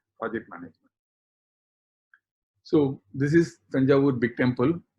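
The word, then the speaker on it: Thanjavur: I am not calling it purposefully Tangur because Tanjour is a English word and people who cannot pronounce like Odisa they are called. So we have Kolkata they have made it Kolkata. So like this that name so the original name is Tanjaw.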